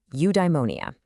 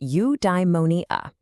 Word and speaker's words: eudaimonia: Okay, I've got a new word for you, eudaimonia. It's pronounced you-dai-mo-ni-a.